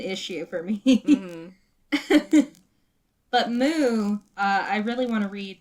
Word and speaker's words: MW: Moo is spelled MW, by the way.